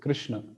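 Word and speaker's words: कृष्ण: is how we pronounce Krishna did you get it we write it correct but we pronounce it wrong we pronounce it as this Krishna normally but it should be Krishna so so the middle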